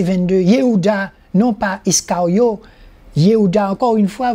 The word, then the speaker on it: Yehuda: Yehuda, encore une fois, vous voyez le mot Y et prononcer la lettre Y, Yehuda.